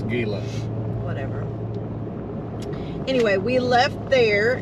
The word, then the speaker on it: Gila: Forest we did figure out that it is pronounced Gila it's Gila whatever anyway we left there and we were